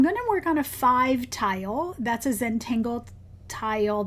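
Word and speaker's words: phiv: And I'm going to work on a five tile. That's a Zenangle tile that is 5 in square. Um and it's spelled P H I V.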